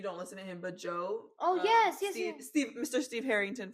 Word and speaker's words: Djo: please, y'all give him it's spelled Joe like DJO. Give him a chance. His music is so good. I'm glad he blew up with End of the Beginning. Wait, Joe DJO. Like he spells it DJO. But his name is Joe Curie. Got it. Okay. But he spells Joe like his artist name. His artist name is it's pronounced Joe.